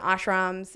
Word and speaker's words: ashram: of it and you talk about the different ashrams am I saying the words yeah you said it was great that's great pronunciation good job reading uh hustle time and